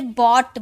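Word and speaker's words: bought: जैसे बॉट तो इसे बॉट बोलते हैं। इस जी एच का साउंड आया इसे बॉ ट बॉट वैसे ही कॉट कॉ ट यह साइलेंट है।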